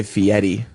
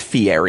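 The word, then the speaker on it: Fieri: like people spelled Ralph guy Fetti how is it it's Fier yeah it's guy Fier he doesn't say FTI exactly he in there no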